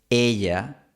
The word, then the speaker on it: ella: El resultado es que terminas pronunciando ella, lo cual suena súper gringo. La pronunciación nativa es ella con un poquito de fricción.